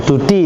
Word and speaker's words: DUDI: Oh, Dudi itu Mbak bacanya. Dudi.